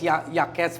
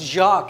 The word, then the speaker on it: Jacques: He was like, "Welcome to the United States, Yaquez Felipe Guerrero." And I said, "It's pronounced Jacques," and he said, "Not anymore."